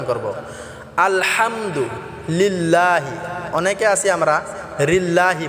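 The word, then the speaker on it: الحمد: আলহামদুলিল্লাহি রাব্বিল আলহামদু আল হামদু অনেকে আছি আমরা আলহামদু বলি আল এটা আমরা আলা অনেকে বলি হাম এটাও আমরা হাম হবে না আলা হাম হবে না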